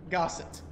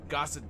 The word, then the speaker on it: Gossett: first of all, how do you say your last name? Gossett. Gossett. That's how we were saying it for like at least 90% of the time.